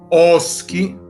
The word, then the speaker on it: Osci: Gli Osci, Oschi, a seconda delle pronunce, a me per esempio piace dire Oschi, erano una delle popolazioni